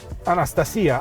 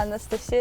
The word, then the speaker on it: Anastasia: Anastasia, I will call you like this because in Romania it's the proper, same pronunciation. Yeah. Anastasia, it's proper name, but Anastasia.